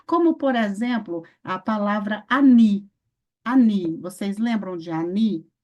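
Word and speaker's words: עני: Aí vocês lembram, o Aleph, ele é mudo, certo? Qual é a outra consoante muda que nós temos no hebraico? É o Ain, né? Então, o Ain também é mudo. E nós temos também uma palavra escrita com Ain, que é o que? A pronúncia é o quê, gente? Ani também, Ani, tá?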